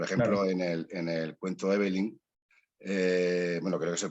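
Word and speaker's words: Eveline: en el cuento Evelyn, bueno, creo que se pronuncia así, ¿no? Sí. Evelyn, sí.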